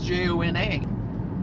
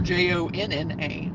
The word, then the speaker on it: Johnna: There's people that pronounce it Johnna as Jonna or Jonna. So I guess for Johnna spelled that way, people just think Donna, you know, a D instead of a J, so they can associate it better, I guess.